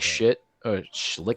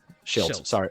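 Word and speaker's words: Shildt: Well, they hired Mike Schlick. Sorry, Schilt. Sorry, Mike. I was pronouncing it phonetically of how I saw it because Schitt's Creek.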